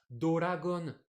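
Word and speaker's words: ドラゴン: Doragon, Doragon. Le Dora, Dragon ouais, c'est peut-être Ball!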